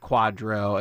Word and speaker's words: QDRO: you're wondering and I'm thrown around this word Quadro Quadra really is an acronym QDR o pronounced Quadro and it's really it's a it's basically a